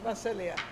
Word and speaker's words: Vasilija: name is spelled v-a-s-i-l-i-j-a the j is silence it's serbian macelia yeah she's been in